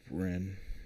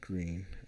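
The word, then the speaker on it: Breen: Then John Bren, not Green, as Reagan famously mispronounced, tried to shut down Reagan, the Hollywood star.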